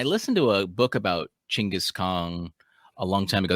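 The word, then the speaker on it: Chinggis Khan: to a book about chingus kong a long time ago that's how he pronounces it um and how how um craig benjamin recommends you say it chingus and uh it's really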